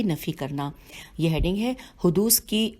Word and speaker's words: حدوث: حدوث کی ہجے کر دیتے ہیں ہے دال واو اور سے کے نیچے زیر ہے حدوث ذاتی اور زمانی کی نفی کرنا.